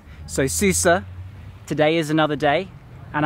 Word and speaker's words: Sousse: I realized that yesterday I was saying the name of the city wrong he's supposed to have an accent on the end so Susur today is another day